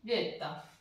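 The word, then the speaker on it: zeta: एस टी उ वू जेता। जेता में मैंने तय भी लिख रखा है, ठीक है, तय जेता, लेकिन यहाँ पे तय साइलेंट हो गया, ठीक है, जेता।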